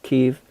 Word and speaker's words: Kiev: I'm not going to pronounce it the way the Ruskies pronounce it. It's Kiev.